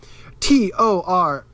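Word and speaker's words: トライガン: Let me spell it out for you, all you audio listeners and video listeners. Toraigan.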